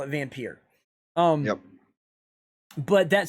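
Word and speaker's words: Vampyr: game is not valve vampire though it's bad it's y is pronounced vampir okay if you do if you listen to the creators of the game the creators of the game call it vampire okay even though it's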